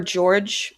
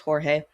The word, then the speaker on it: Jorge: The lead actor is Jorge or George. I think it's pronounced Jorge.